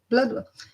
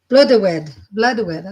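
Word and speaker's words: Blodeuwedd: Francis, I have a Bloodwell. I'm going to make sure I pronounce it for she's sake. Bloodwed. I was close, but not close.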